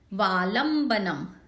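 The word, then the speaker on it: वालम्बनं: प्रणम्य जिनपाद युगम युगादा, वालंबनम, इसमें ल पे जोर आएगा।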